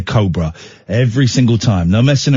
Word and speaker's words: Cobra: Anyway, we did a thing for Cobra beer, but I pronounced it Cobra, and she took me to one side and said, Ian, I think it's pronounced Cobra, and I was mortified.